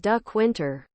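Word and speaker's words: Dequindre: is Sue St Marie dequinder is D Quinter lake orian is Lake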